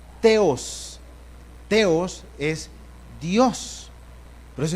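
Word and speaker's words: θεός: Hermanos, en los originales y en el griego, el nombre de Dios aparece con más o menos la pronunciación es Theos.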